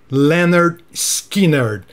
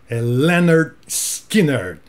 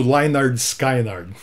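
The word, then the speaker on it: Lynyrd Skynyrd: até para os americanos aqui ó pronúncia ler Skinner então acerta pronúncia desta bandassa Eller Skinner aqui no Brasil houve muito lynard skynard e o nome desse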